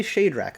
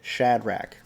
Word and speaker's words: Shadrach: shadrach meshach and abednego does anybody say shade rack i'd like to see that in the comments if that's how you say the name i've always said shadrach now we're going to